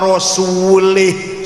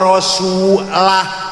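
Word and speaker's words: رسوله: Innallaha barium minal musyrikina wa rasulih. Salah. Allah tidak melindungi orang musyrik dan tidak melindungi rasulnya. Rasulullah salah. Yang benar bacanya innallaha barium minal musyrikina wa rasulah. Jangan lih.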